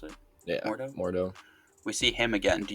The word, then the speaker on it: Mordo: a way um and we see that uh more dough more is that how you pronounce it yeah mordo we see him again do you guys think